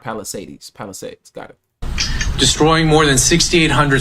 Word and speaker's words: Palisades: So, Palisades is how you say it, not Palisades.